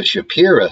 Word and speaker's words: Shapira: over the world but the shapira family and it's not just a southern pronunciation they spell it s h a p i r a the shapira family